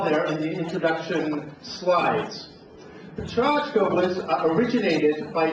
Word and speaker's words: Pecha Kucha: We have a lineup of 6 speakers doing Pecha Kucha, or perhaps a better pronunciation is a Pechachka.